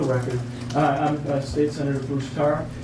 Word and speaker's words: Tarr: And for the record, I'm State Senator Bruce Tarr. Tarr is in paving.